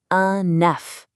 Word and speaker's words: un œuf: For just one egg, we say enough. Did you hear that? Enough. That F sound at the end is there loud and proud. But when we have more than one, we say dz. Poof. The F is completely gone. It's a whole different sound.